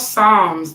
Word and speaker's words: Psalms: you ever read the Psalms um it's called Psalms the p is silent so it's p s